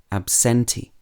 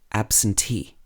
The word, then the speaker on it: absentee: say absentee not absentee or absentee it should be absentee let's practice some more